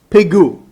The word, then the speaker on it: pigul: Because the Hebrew word here is the word pigul. Pigu. It's pronounced pigu.